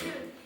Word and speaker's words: Dieu: Oui, c'est ça, Monsieur Dieu. Comme ça se prononce, hein.